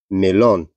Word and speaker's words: melón: Melón. Então, tem um acento no on, né, no o.